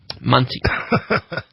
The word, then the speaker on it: Muncie: Muncie.